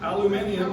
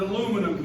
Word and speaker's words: aluminium: Aluminium, yes. But we call it aluminum here, right?